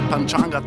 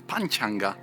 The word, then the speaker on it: Panchanga: And yesterday we had the nice Sanskrit lesson when we learned that we should rather pronounce Panchanga instead of Panchanga.